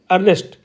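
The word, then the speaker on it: earnest: एन एस टी तो यहां पर ई नहीं बोलेंगे नेस्ट नहीं बोलेंगे हम इसको हम क्या बोलेंगे अर्नेस्ट अर्नेस्ट क्योंकि ई के आगे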